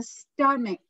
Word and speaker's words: stomach: stomach okay it's a stomach a stomach ch on the end is not pronounced with the ch it's pronounced with the